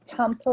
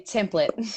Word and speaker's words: Temple: You guys, this is Temple. Yes, did I say it right? Yay! I didn't even practice. Most people say template.